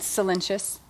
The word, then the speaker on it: Solyntjes: you probably are wondering how to pronounce my last name right so it's cenus and I've been uh